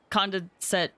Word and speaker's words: condensate: Venti and Zhongli needed slime condensate for Ascension stuff. Condensate. That's how it's pronounced.